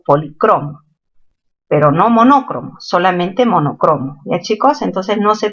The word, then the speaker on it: monocromo: ¿Monócromo o monocromo? Lo correcto, chicos, no es monócromo, es monocromo. Palabra grave terminada en vocal no se tilda.